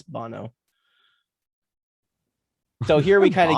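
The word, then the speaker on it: Banno: to make like political it's b-a-n-n-o no bono so an american you'd say baino but in japanese because they're two letters per syllable and per enunciation so it's bono so here we kind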